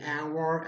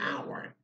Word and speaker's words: hour: be back in an hour because the world our you know H is silent there it's not a sin